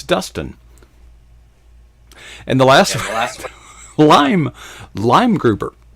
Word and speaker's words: Leimgruber: and the last lime lime grouper lime think green fruit citrus okay green and and